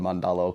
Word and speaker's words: Mandalo: but yeah yeah man we call it mandalo because we're from manchester united so he was pac-man